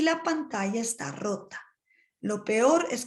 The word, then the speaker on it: pantalla: Se cayó, past tense, la pantalla, the double L is pronounced as a Y, la pantalla.